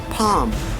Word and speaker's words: palm: We say cough, half, palm, would, should, could, fork, and york.